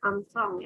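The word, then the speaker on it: ångström: Nah, ini tuh dibacanya Armstrong ya.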